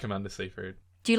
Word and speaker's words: Seyfried: Seyfried?